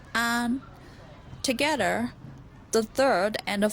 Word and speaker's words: 安: Now, the fourth Chinese character is pronounced an.